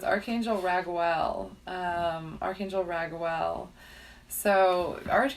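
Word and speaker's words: Raguel: I always remember because his name is spelled differently than it then it would then you might think it's re gue L for rag well but he makes everything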